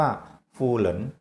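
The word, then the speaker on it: 夫人: กัน กับ คำ ว่า หู เห็น นั่น เอง นะ ครับ สำเนียง จริง กลาง ก็ จะ ออก เสียง ว่า ฟูเหริน ถึง การ นั้น ใน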